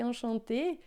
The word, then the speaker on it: enchanté: E se você observar esse enchanté, a gente pronuncia da mesma forma, mas aqui tem um E a mais, né?